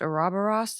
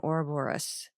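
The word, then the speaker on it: Ouroboros: flag and the two-headed I've heard this pronounced a robberos and oraorus but this is the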